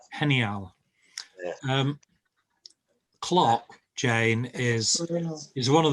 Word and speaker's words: genial: Not genial, genial. Clock, Jane, is one of those words that I can never pronounce.